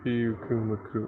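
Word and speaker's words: Pyukumuku: The thing about all the Hawaiian names is that you pronounce every single vowel. Okay, so Piu Kumu Kumu.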